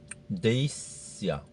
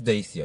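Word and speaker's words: Dacia: Desia. Huh? It's Deacia. Yeah, exactly. People disagree with how to pronounce it.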